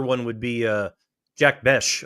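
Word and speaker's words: Bech: And then another one would be uh Jack Besh. I always say his name wrong, Jack Beck, but it's Bes.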